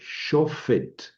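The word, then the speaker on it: שֹׁפֵט: Entonces, la sílaba es sho y luego es es una p sin puntito. Esto suena como f shofet.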